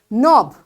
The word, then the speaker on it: knob: this k is silent knob the handle anything which you move knob this k is silent knee your knee so